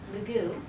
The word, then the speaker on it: Mugu: But I like to stress Muwu, which is Mugu, right? The Spanish changed the pronunciation and the spelling.